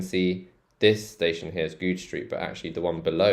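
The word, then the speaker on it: Goodge Street: It's quite a funny name, Goode Street. Goode, so a J sound at the end, and then Goode Street.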